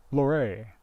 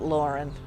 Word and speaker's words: Laurin: It's in one of those Montana towns where the pronunciation doesn't match the spelling. Luray.